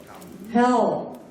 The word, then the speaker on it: Hal: What my friend, and he didn't say his name, so Hal, where Hal, H-A-L, yeah, in case you hear it wrong.